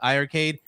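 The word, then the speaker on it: iiArcade: it's the i arcade it's with two eyes i i arcade but it's pronounced i arcade there's leaderboards there right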